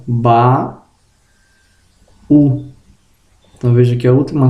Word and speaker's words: baú: Observação: se a palavra for oxítona e terminar em I ou U, só vai ter acento gráfico se formar hiato na sílaba oxítona. Por exemplo, baú, açaí, Itajaí, Tambaú. Então veja que separando as sílabas, a sílaba oxítona ela é terminada em I ou U, mas será oxítona, né? Formando hiato, ó. Ba, U.